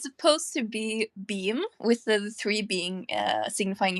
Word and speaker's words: B3am: Well, but yeah, it is pronounced beam.